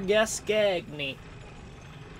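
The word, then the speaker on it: Gascoigne: And then we can go fight Father Gascagney.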